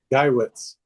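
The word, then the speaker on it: Geiwitz: And they have a kid and I I hope I pronounce his last name properly. Tony is it gets gei wi tz guywitz.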